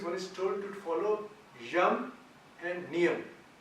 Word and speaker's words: yama: is told to follow yam and niyam. I think it's referred here as yama and niyama because that's the way the Americans possibly pronounce it. It's yam, Y-A-M-A, yama, which literally means death or control.